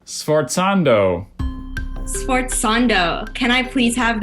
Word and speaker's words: sforzando: Sforzando.